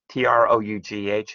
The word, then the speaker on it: trough: And the trough, T-R-O-U-G-H, is pronounced like T-R-O-T-H, trough, is exactly the opposite.